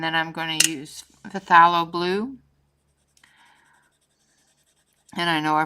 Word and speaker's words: phthalo: The P is silent. Phthalo blue.